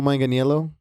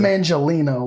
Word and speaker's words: Manganiello: like part of his last name is spelled like my middle name, so the last part is Agnello. Joe Manganiello? Yeah, it's Manganiello. Mangelino, but that's also the internet, so I wouldn't.